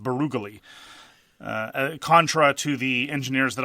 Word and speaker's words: Barrage: And the League Water expansion, and by the way, it's not Barrage. We're informed that, according to something that some guy once looked up on the internet once, it's pronounced Barugally.